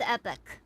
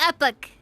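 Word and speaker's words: Epoch: Also it's pronounced epic.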